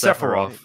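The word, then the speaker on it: Sephiroth: Sepharoth or Sepharoth, whichever way you pronounce it. Well, it's Is it Sepharoth or Sepharof? It's Sepharov, isn't it?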